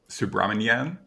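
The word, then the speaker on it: Subrahmanyan: Chandra Seikka, whose first name was um Subraman Subramanyan, got it. Uh, is that I I hope I'm pronouncing that correctly.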